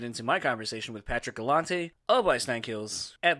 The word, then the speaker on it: Galante: So I think that when my grandmother got into the mix, she changed the pronunciation to Galante so that we wouldn't be associated with the Galantes anymore, but yes, Galante is the name.